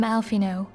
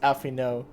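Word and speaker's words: Alphinaud: received a word from alfino i i still can't get over the fact that his pre it's pronounced alfie no damn it my bad in english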